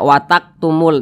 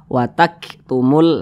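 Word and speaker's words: وَتَكْتُمُونَ: Kaf ini tadi mati maka cara bacanya itu ada sedikit desis yang keluar Nah karena huruf Kaf ini dia memiliki sifat hams gitu Jadi ada sedikit angin yang keluar daripada mulut kita ketika melafazkannya jadi dibaca watak watak watak gitu watak tumur watak gitu jangan jangan e dibaca watak tumul Nah itu kurang tepat tapi ada sedikit desis watak tumul nah seperti itu kemudian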